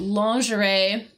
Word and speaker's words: lingerie: And notice how I'm pronouncing that word, because I know it is spelt completely different from the pronunciation. But lingerie, typically referring to, like, you know, underwear, basically women's underwear, right?